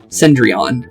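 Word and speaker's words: Cendrillon: or sumir with H cendron or cendron is how you say that the ash princess that's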